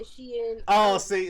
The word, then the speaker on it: Shein: I haven't tried Sheen.